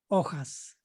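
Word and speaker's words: hojas: trees or leaf trees ojas don't confuse with oh ho eyes i remember i used to have a yeah i i do have a german friend he always confused ojas ojos eyes see it sounds the same just without the h or with the h ojos tv projector projector well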